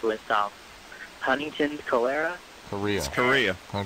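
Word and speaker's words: chorea: so pretty awful illness do they spell it just like Korea no it's ch a long way and it's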